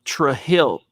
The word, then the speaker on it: Trujillo: couple of kids whose last name was tre hill t-r-u-j t-r-u-j-i-l-l-o they pronounced it tre hill no oh no yeah tre hill and then i've heard and i've met other people with the exact same last name who pronounced their last name trujillo or trujillo i've seen three different ways to pronounce it so zack's right mike